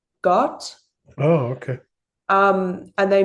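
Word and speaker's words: Gåte: They're called um it's spelled G A T E, but I think it's pronounced like got Oh, okay.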